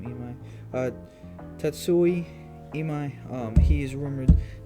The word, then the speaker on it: Imai: Let me not say his name wrong, because it is Japanese. Imai is his last name. Imai.